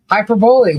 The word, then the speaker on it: hyperbole: Hyperbole fast, all one. Hyperbole. What? Accent on second syllable. Hyperbole.